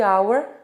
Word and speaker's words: hour: Então aí é um exemplo de duas palavras que na grafia as duas têm consoante, mas na pronúncia é bem claro de você ver que uma é vogal e a outra não é.